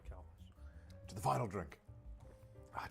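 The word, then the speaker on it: Calpis: Colpus, right? It's pronounced Calpus.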